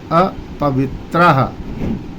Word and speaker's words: अपवित्रः: आएगी ओम अप वित्राह वित्राह बलाघात लगेगा क्योंकि आधा शब्द आ गया है आधा अक्षर आ गया है तो यहां पर आधा त और र तो वित्त पर जीभ रोक करके बोलेंगे त्र वित्राह ओम अपवित्रः अप के